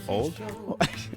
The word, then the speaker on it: Ould: Old? Old. Old? Yes. Or Ould? I always say it's old. The U is silent, unlike me.